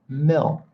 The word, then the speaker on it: milk: It's milk.